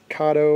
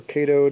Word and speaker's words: Kato: It's an AC 4400 from Kato or Kato, depending on how you want to pronounce that.